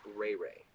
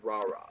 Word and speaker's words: Rahra: your name was rahra i kept pronouncing it ray-ray and so um some woman some lady comes up to me and tells me no kendrick you do not pronounce it ray-ray it is a rah-rah so get it right